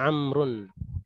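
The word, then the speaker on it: عمرو: Ya ini bacanya amrun. Amrun. Ah amrun. Tapi di sini kenapa ada huruf waw? Ya ini kenapa ada huruf waw untuk membedakan antara Umar dan Amrun.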